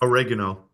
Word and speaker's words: oregano: the simplest would be oregano oil or Okay. Um or I think you pronounce it differently in the states. Oregano. Yes, that's the way. That's the one.